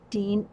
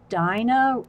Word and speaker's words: Dina: my art Journal my I know I'm gonna say it wrong Dean no it's not it's Dina there's Dina wakeley and